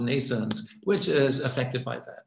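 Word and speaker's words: NNAISENSE: I should know because we have stana called nations which is affected by that nations is pronounced like Nathan's like birth in English but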